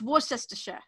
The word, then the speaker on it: Worcestershire: and see how many of them can actually pronounce Worcestershire sauce. I asked my friend from Bristol. It's Worcestershire.